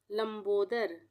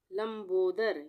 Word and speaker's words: लंबोदर: लंबोदर, लंबोदर, यहाँ पर लंबोदर नहीं पढ़ रहे हैं, हम पढ़ रहे हैं लंबोदर, तो म का आधा रूप आएगा, यहाँ पे आधा उच्चारण है म का, लंबोदर।